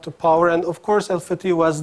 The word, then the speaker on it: Fatah: was one of them americans pronounce al-fatah while it is alpha T and 50 you know conquer so therefore and to